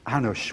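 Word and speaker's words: Hanuš: Well, HNS, his name was Hanush, which is spelled H-A-N-U-S.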